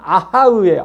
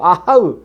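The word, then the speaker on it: אֲהָהּ: 히브리어 단어 그대로 발음하면 아하으예요. 아하으.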